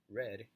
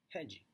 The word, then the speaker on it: red: So this is how red would look like in English pronunciation, red, and this is how I would pronounce it, hedgy.